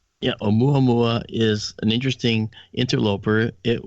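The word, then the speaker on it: ʻOumuamua: Um uh it's a mua mua, by the way.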